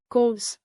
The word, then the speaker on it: kos: Plus kos like cause.